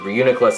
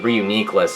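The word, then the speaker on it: Reuniclus: matter because the because the anime set pronounces reuniklus is re-uniqueless and there is no goddamn way where uniqlist is pronounced that way krogunk look at this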